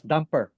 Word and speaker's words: DMPR: one of them uh dmpr sometimes we pronounce it as dumper because as you all